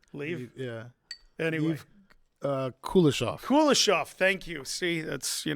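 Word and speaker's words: Kuleshov: filmmaker Lev kov you want to try and pronounce leave leave yeah anyway uh kof kulishov thank you see that's you know better and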